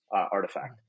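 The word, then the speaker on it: RTFKT: There was a company that I started following pretty early into like the beginning of 2021 called Artifact. It's spelled without any of the vowels, Artifact.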